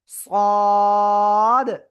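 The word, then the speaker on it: صاد: একটু মোটা আওয়াজে আমরা এটা উচ্চারণ করব। আলিফটা নিয়া এক দুই তিন চার আলিফটা নিয়া সদ চার আলিফটাতে হবে। কিন্তু সদ অনেকে বলে এরকম সদ সদ না সদ প্লিজ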